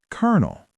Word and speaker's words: colonel: It looks like colonel, but it is pronounced kernel.